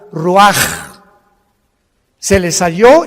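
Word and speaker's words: רוח: exhaló Isaac el Roach así como suena se pronuncia la c en hebreo como J ruaj se le só y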